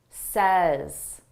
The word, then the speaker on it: says: Say says my vowel changes in the third person singular say, a but says, as as we have a longer sound and a shorter sound, I won't say what she always says.